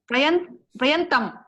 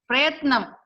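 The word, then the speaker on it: प्रयत्नम्: Prayantam. Prayatnam. Okay. Na is the last consonant. Prayatnam.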